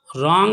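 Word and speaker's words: wrong: रॉन्ग में W silent है, गलत।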